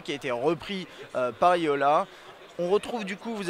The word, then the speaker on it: Jolla: Jola, vous pouvez le prononcer comme vous voulez, mais normalement c'est Yola.